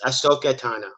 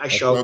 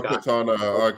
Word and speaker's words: Ahsoka Tano: It's Ahsoka Tano. It's not Ashoka. Ahsoka Tano. I don't know her, so I'm gonna abstain from the vote. Well, again, just look how it's spelled. It's not ASH. It's AHS.